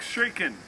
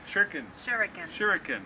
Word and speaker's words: shuriken: The double attack shuriken. Shuriken. Three syllables. Shuriken.